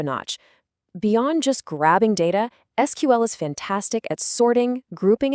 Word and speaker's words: SQL: Well, for that there's a universal language, SQL. SQL, and you'll often hear it pronounced SQL, is how we communicate with the database.